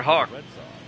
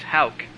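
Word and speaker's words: Houck: anyway next up Tanner Hawk 89 Tanner is pronounced Hal I just heard the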